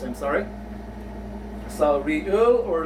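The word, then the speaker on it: 리을: Has the equivalence of either letter R or letter L. Meaning to say, this real consonant letter can either sound as letter R or a letter L in a word.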